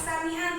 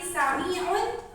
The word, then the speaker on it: Samiun: tadi ada sedikit ya bukan samian tapi Samiun Alim itu ya cara baca sedikit saja tapi untuk